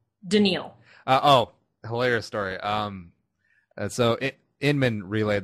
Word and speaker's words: Daniil: Or Daniil. It's pronounced Daniil.